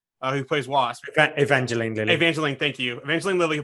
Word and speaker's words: Evangeline: right miss lily uh who plays wasp evangeline evangeline thank you eventually lilly who plays wasp she